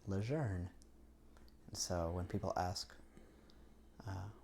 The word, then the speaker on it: Lejeune: the Cajun and so my last name became the Cajun pronunciation of a French name and leun is how I believe it was originally pronounced kind of either evolved or uh de evolved maybe into uh leer so when people ask